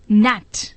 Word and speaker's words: gnat: इन शब्दों को बोलिए तथा हिज्जों और उच्चारण को याद कीजिए, जैसे GNAT नैट, लड़ाकू विमान।